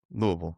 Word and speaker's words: Louisville: And why did anyone else talk to you before Louisville before you committed at like 14 15?